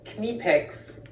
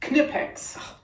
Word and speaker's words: Knipex: do we say it it is pronounced quinnipex snip X knipex well drat that puts